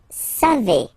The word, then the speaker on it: savez: Then vous savez. Classic ending for vous, E-Z, but then phonetically it's E. Vous savez.